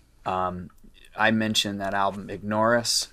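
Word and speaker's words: Ignaurus: i mentioned that album ignoris am i saying it right yeah all right it's a play on the words ignore us you know i like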